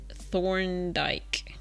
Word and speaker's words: Thorndyke: name is thunder thorned how do you say that thorned like thorndike oh it's a d no not not an l thorne thorndyke thorndyke i'll get it one day thorndyke i think